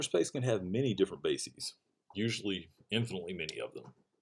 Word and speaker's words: bases: the plural of basis it's bases it rhymes with macy's not uh faces all right now the